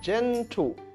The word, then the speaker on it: gentle: The mother is very gentle with her baby. J, J, gentle. Is it a hard G or a soft G? Good. Gentle is a soft G in the beginning of the word.